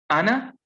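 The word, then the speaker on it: أنا: Ana, the word, like I said, the word is pronounced as ana. That alif is never ever pronounced.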